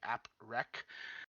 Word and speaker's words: APREQ: It's spelled APREQ for those of you who don't know what it actually looks like. App rec.